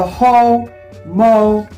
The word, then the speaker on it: homophones: because you see the homophones, right? But this H-O-M, you're going to say homophones, okay? Not home, homophones, homophones, okay?